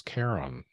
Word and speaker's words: Charon: So, I've been told that the correct pronunciation is Charon. We don't pronounce the H.